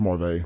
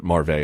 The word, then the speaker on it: Marvay: It's pronounced Marvay. Marvay Smith. Now, I looked at Marv because I would say it that way, but Marvay apparently is the correct way.